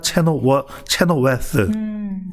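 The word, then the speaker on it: Chenoweth: 이게 이제 8년 전에 나왔던 미국 덴버 대학교의 에리카 체노웨스. 자, 번데기 발음이야. 번데기 발음.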